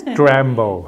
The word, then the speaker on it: DRAMBO: So if you don't pronounce it sharply, it sounds like Rambo, but it's DRAMBO.